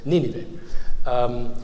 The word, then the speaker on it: Nineveh: Now, it's impossible to change that so that the accent is on the first syllable. And he was probably responding to how this was pronounced in French and German, where there is the accent, I think, on the second syllable.